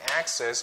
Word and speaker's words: access: So the stress, the stress for accent and access, it falls on the first syllable.